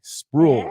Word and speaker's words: Sprual: We got Bree Sprual, right? Is it Sprual? Yes. Yeah, you said it right.